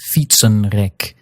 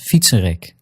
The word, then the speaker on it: fietsenrek: When that happens, the N in that last syllable, that N is silent. That gives you words like hersenen and springen, and even compound words where you get the unstressed N syllable in the middle, like fietsenrek. In these cases, you're not hearing hersenen or springen or fietsenrek, but rather hersenen, springen, and fietsenrek.